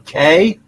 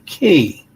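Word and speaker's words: Cay: the island two issues are we going to call it relax away at Half Moon K or relax away at Half Moon Key you using the proper key pronunciation or are we going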